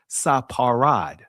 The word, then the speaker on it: Sepharad: Now I want to make it clear family the actual ancient pronunciation of this this name is saparad. There was no uh ph or f sound or f sound in ancient Hebrew that comes from the Greeks.